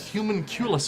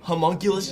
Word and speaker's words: homunculus: go talk to that human culus of yours okay it's pronounced homunculus genius I don't need